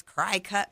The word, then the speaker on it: Cricut: like Cricut machine or it's spelled C R I C U T, how does this Cry cut machine, you know, I always called it Cry Cut actually works.